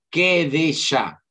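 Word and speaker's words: קדשה: En hebreo se dice queá. Quedesá.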